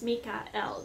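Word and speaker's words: Mikael: is always talking about some people call him Michael but is proper Annunciation in some our pronunciation is Mika el means perfect one of God when you call him Michael you're just calling him like Mike he'll still answer to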